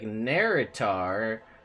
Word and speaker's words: Naerytar: you spell it and we were like it sounds like nerrit are and then now it's